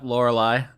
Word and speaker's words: Lorelei: All right, Season 2, Lorelei. Is that pronounced right? Yes? No? Maybe? No. Nope, Lorelei.